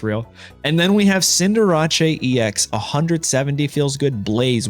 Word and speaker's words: Cinderace: Yeah, Cinderace. That's how you say it. Cinderace. Okay, it's French, guys.